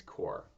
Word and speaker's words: Corps: When I was there, I was working with in what's called the Peace Corps. Peace, like Pyongyang. Corps is a French word. C-O-R-P-S is the spelling, but it's pronounced corps.